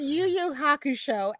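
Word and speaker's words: Yu Yu Hakusho: some kind of way and oh I said you you Haku show and I just I just said it because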